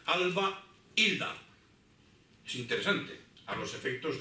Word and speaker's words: Albelda: Incluso puedo decir cuál era la pronunciación, porque la I de Alba Hilda es como si fuesen dos palabras. Es que por una parte está Alba y por otra parte está Hilda, ¿de acuerdo? Entonces, eso quiere decir que hay, llamamos en gramática a esto, en prosodia, llamamos un hiato. Es decir, que hay que pronunciar la A por una parte y la I por otra. Alba Hilda.